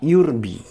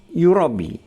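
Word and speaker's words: يُرْبِي: dan Allah menyuburkan sedekah kata itu dibaca dengan memberikan domah pada huruf ya kata yurbi tersebut berasal dari kata yarbu e kemudi yang berarti memperbanyak dan mengembang biakkan ada juga yang membacanya dengan yurabi e dengan memberi domah pada huruf ya Eh dan disertai dengan tasdid pada huruf ba yang berasal dari kata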